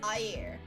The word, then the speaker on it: air: So, for example, to say water, you pronounce it as air. Okay, A-Y-E-R is the pronunciation, but the spelling is A-I-R.